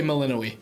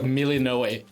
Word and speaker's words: Melinoë: Hades 2's protagonist uh we say meloi the Greek is like miloi so zagas doesn't have